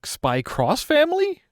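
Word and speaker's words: Spy × Family: I don't believe the X is actually pronounced. Is it Spy Cross Family? Think of it like Hunter x Hunter. Yeah.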